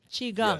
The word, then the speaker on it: Qigong: Did I pronounce that correctly? Qi Gong, yes, right?